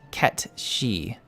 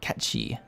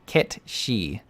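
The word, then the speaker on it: Cait Sith: but Keith Sith is Irish and is actually pronounced KET she I was never gonna get catchy all right I know Kechi is from one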